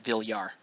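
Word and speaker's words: Villar: you know she's a how you pronounce my my name to filipinos is you pronounce it vill yar oh she's a vor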